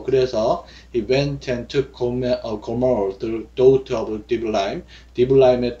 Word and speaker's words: Gomer: 예, 고멜, 우리는 고멜이라고 하는데 Gomer 이렇게 발음이 되어 있어요.